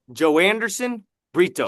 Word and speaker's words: Joanderson Brito: Joanderson Brito Joanderson Brito I have personally I have Joanderson Brito KO TKO rounds one or two.